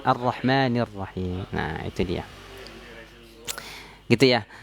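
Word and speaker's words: الرحمن الرحيم: Contoh misalnya kita membacanya ar-rahmanur rahim. Nah, ini kurang tepat, ini i'rab yang salah nih, harusnya kan ar-rahmanir rahim.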